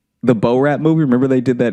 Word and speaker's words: Borat: The Bo Rat movie.